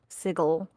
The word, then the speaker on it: Sigil: Chris Perkin pronounces sigil sigle you mean he you mean the correct way because there's the city of sigle and then there's sigil which is call you